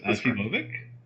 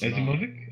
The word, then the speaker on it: Asimovic: Strauss Asimovic. Yeah. And John Boof Little. Yeah, Strauss's last name really looks. I want to pronounce it Asimov, but it's Asimovic.